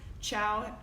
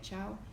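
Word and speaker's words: Chao: But I will tell you, as far as all the non-dairy cheeses that I've tried, Chow, I think that's how you say it, Chow, is my favorite, and it's spelled C-H-A-O.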